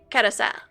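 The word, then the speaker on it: carrousel: And if it's French, it wouldn't be carousel. It would be like kousel. They wouldn't pronounce the L.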